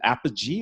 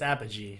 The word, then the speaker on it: Apogee: Is it Apogee or Apogee? I think it's Apogee. Cynthia uses it too. Cynthia, Yeah, Apogee. Apogee. Got it. Yeah, Apogee.